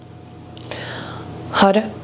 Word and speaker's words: Har: And you're going to notice the spelling on the screen is H-A-R, but it's pronounced HUD, like H-U-D. Had Wahi Guru, Had Sat Nam.